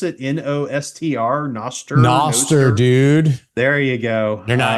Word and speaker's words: Nostr: Nostr, Noster, dude. There you go. You're clearly you're gonna get your Bitcoin maxi credentials pulled. You may have been here since 2010, but Noster.